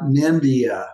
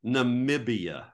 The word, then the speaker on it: Namibia: where I was uh nah nimbia no no I didn't say it right in the middle there's a b Namibia Namibia that's a hard one